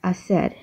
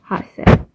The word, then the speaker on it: hacer: while the actual H, the H in Spanish, which is he, is just silent. So that's why if we're talking about hacer, it would be hacer, not hacer.